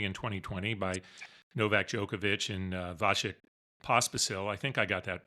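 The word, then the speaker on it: Vasek Pospisil: The PTPA was founded only in 2020 by NovakJokovic and Vashik Pospasil. I think I got that pronounced right.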